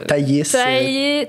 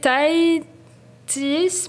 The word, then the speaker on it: Thaïs: Comment il prononce? Thaïs. Taïtis, puis des fois Anaïs.